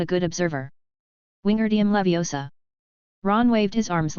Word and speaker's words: Wingardium Leviosa: It's Wingardium Leviosa. The AR must not only be pronounced, but also said long and clearly.